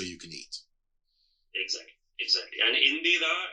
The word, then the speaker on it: Indira: And Indira is the former Prime Minister of India, and that's a female gender name. That's spelled as Indira, while Indra is spelled as Indra. Okay, so the I makes it feminized in this context.